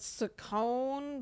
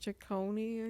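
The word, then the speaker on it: Ciccone: I think I think maybe she started pronouncing it Sone but it's definitely pronounced Chone yeah Tony Chone what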